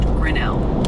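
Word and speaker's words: Grinnell: Grenell is pronounced Grenell with the emphasis on that second syllable, L.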